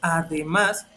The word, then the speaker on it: además: Entonces, a, de, más, el acento cayó en la última sílaba y en este caso fue en las agudas.